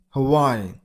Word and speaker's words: Hawaii: You got a stress on the middle syllable. Why? Huh? Why? Hawaii.